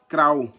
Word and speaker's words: Krao: Les Kroumènes, comme je disais, est un groupe ethnique africain du peuple Krao. Krao s'écrit K-R-A-O, venant du Libéria.